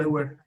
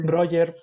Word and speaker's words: Breuer: Brewer. Sí, Sí, Breuer, porque se pronuncia bro, igual que Freud.